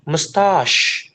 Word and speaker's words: mustache: How to pronounce it? Nah, you have to say mustache. Kok mustaas sih, sir? Ada syah-sahnya. Ada huruf syinya gak tahu ya.